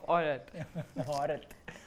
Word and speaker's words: Aurat: Yeah, all the stress is on the O because I want to be the cute version of Aurat, so the emphasis goes there.